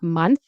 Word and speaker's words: month: Pronunciation of month. Remember, your tongue is between your teeth. Month, month.